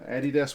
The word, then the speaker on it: Adidas: It's an Adidas one, which is how we pronounce that company's name here in New Zealand.